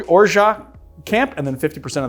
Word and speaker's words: orgeat: that's how it's pronounced the t is silent in the US you would I guess pronounce orat with the T so there are those people are in the orja camp those people that